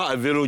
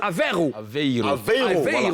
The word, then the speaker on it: Aveiro: Alors, Mouloukoukou, Karina, Alvero Jazz, j'ai du mal à prononcer le Alvero. Hein. Moi, c'est Aveiro.